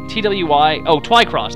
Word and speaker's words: Twycross: It's like Twyson or something like that. Here, let me spell it for you. It's Twycross.